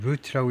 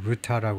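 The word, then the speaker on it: Rutte: 이제 이렇게 돼 있는데 루트라고 있는데 어떤 방송에서 보면요. 미국 방송에서는 루타라고도 돼 읽더라고요. 화란 사람인데 화란으로은 아마 루타라고 그러는 거 같아요. 그런 경우에는 예 그런 경우에는 영국 영어식으로 루트라고 읽어도 누가 욕은 못 합니다.에 화란식으로 루트하라고 할 수도 있지만 루트라고 읽어도 되는데요.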